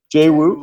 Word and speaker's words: Jae Wook: my name is Jae Wook. My pronunciation might be not easy. Yeah, it's Jay Jae Wook.